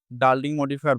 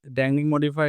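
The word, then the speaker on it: dangling modifier: সেটা হচ্ছে ড্যাংলিং মডিফায়ার ড্যাংলিং মডিফায়ার কি আবার অনেকে ডার্লিং মডিফায়ার ভুলে উচ্চারণ করতে পারো কিন্তু না আসলে ড্যাংলিং মডিফায়ার এটা হয়তো তোমরা যারা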